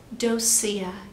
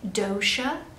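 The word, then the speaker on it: Docia: There is Aunt Ruby, as well as Aunt Dosia, which is also sometimes pronounced Dosia. It depends on what part of the country you are from. I'm gonna say Dosia just for ease in reading.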